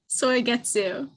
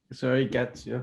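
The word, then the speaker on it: Suigetsu: Soigetsu. Like soy or soy. Soigetsu.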